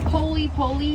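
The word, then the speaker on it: pole pole: We are going to go poli poli, which does mean slowly, slowly, or very slowly. In Swahili, if you put the two words together, just put emphasis on the second word.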